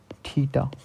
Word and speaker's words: theta: Pronunciation क्या होता है इसका, थीटा, THETA, थीटा।